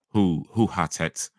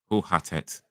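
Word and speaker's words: hoe gaat het: By the way, how it's pronounced like who? Oh, who? Oh, my bad. Who Hatet? Who Hatet? Ooh, in Dutch is always pronounced like ooh.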